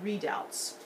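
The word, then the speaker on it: redoubt: triangular points along the wall those were called routs and that's spelled r e d o u BT I don't have that in your notes but we will we'll see um a reconstructed readout a readout is just a little fort a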